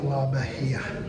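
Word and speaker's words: La Bahía: la bahia mission yeah i ask how to pronounce it presidio la bahia let's go check this place out part of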